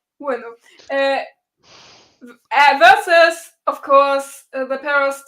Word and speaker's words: Ueno: Ueno. I always say it wrong because all the English speakers say it wrong. Ueno.